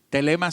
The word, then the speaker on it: Thelema: Telema se escribe T-H-E-L-E-M-A. Telema.